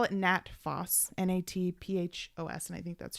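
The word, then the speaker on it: Nat Phos: indigestion was number ten and they call it nat foss n-a-t-p-h-o-s and i think that's short for uh i don't know how to pronounce it natrum phosphoricum cool anyway sell salts number 10.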